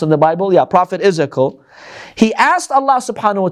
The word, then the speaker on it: Ezekiel: In English, how do you pronounce his name? Ezekiel? Yeah. Is that how it's pronounced in the Bible? Yeah, Prophet Ezekiel.